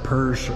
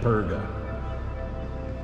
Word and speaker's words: Perga: I said Persh earlier. They're pronouncing it Perga.